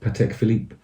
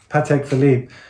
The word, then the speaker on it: Patek Philippe: uh and excuse me if I get the name wrong fill it I take Philippe yeah how do you say it again Patek Philippe Patek Philippe I saw like a navy blue 70s one